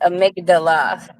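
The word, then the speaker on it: amygdala: too long ago yes all right that is pronounced amigdala a migdala a migdala okay all right yeah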